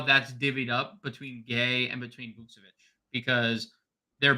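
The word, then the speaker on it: Gueye: um at the five he's definitely interesting muhamad gay uh that's the correct pronunciation it's spelled gu ye is the likely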